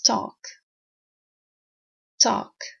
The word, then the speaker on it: talk: it as a noun never pronounce the L it's talk talk and then we have